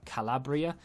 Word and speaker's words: Calabria: great goal in uh from calabria is how you say his name and unfortunately we have